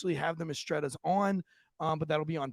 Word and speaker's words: Mistretta: Am I saying Mistretta case correctly? You're saying, you're mispronouncing case slightly, but Mistretta is correct, yes.